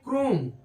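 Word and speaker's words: chrome: हो जा रहा है सी आरओ ए क्रोम क्रोम पढ़ते हैं क्रोम ए सीच से च होता है ना लेकिन यहां क्रोम पढ़ते हैं चोम नहीं पढ़ते ऐसे ही एच इ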